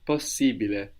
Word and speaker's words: possibile: So possible becomes possibile. Possibile. But we also pronounce the two S's. Possibili. Possibili. Ciao, Lorenzo. Yes. Possibile.